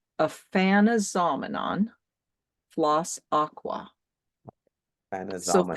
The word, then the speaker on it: Aphanizomenon: It's Aphanizomenon floss aqua. So Panazoman. think of the word phenomenon, and I actually Oh, yeah.